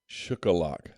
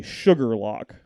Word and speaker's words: Shuqualak: Shukalak. It is actually Sugar Lock. Like sugar and lock is what that is.